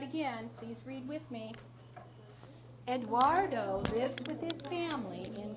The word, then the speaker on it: Eduardo: let's read about Spain that name is a Spanish name it's pronounced Eduardo say that Eduardo Eduardo so let's read